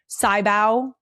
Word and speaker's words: sybau: So, I would not use sybau and that is how it's pronounced.